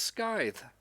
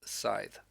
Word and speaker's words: Scythe: has, is depicted with, isn't pronounced scythe, like I thought this my whole life. It's scythe.